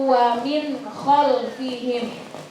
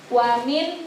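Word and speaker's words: ومن خلفهم: Nah, jadi min baini aydihim saddaw wa min khalfihim. Wa min khalfihim, bukan wa min salah. Karena itu hukum bacaannya adalah idhar halqi, jadi bacanya harus jelas. Wa min khalfihim.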